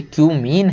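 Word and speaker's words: cumene: Give the equations of the reactions for the preparation of phenol from क्यूमीन। क्यूमीन से हमें आपको equation बताना केवल कि क्यूमीन से, इसको कुछ और मत पढ़ लेना भाई, ये क्यूमीन है।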